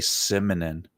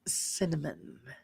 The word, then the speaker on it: cinnamon: Oh, some people say simin. They can't say cinnamon. Cinnamon.